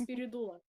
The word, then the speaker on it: Spiridula: brother, my sister, or Spiridula, you know what, I'm not gonna say it with a British accent, I'm not gonna say her name like that, no, it's Spiridula. Spiridula, say it nice and clear.